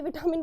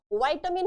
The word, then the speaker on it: vitamin: चलिए, अब विटामिन जो है बच्चा, ये हमारे, इसका पता प्रोनाउंसिएशन विटामिन होता ही नहीं है। ये तो मैं आप लोगों को ना पढ़ाते पढ़ाते विटामिन बोलना शुरू कर दिया है। वाइटामिन होता है इसका प्रोनाउंसिएशन ना, वाइटामिन, है ना।